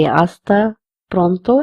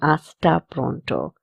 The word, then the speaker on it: hasta pronto: Again, the T's pronunciation is the. So we say hasta pronto and not hasta pronto.